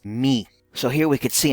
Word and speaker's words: mu: me and tradition as mu or mu the real pronunciation in Greek is me so here we could